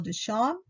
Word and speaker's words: Duchamp: And here we have a Marcel Duchamp. The P is not pronounced.